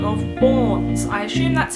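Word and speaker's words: BØRNS: by the name of Borns. I assume that's how it's pronounced, even though it has the little like Danish O's with the line through in there, which would change the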